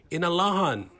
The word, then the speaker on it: Inalahan: Also passed was a measure by Senator Tello Taitagui to change the official name of the village of Inarahan to the Chamorro pronunciation, Inalahan.